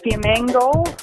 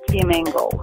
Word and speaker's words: Fiamengo: Fiamengo. Janice Fiamengo is my name. I can say it it sounds like flamingo, but Fiamengo is the name, yeah.